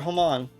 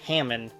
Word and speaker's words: Hamon: the way that uh that long o sound that he does there is how I know it's pronounced and that Hammond because so many people pronounce it Hammond but I'm like I'm sure this is a JoJo reference blue I don't believe